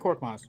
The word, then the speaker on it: Korkmaz: No, you said it right, Frank Korkmaz.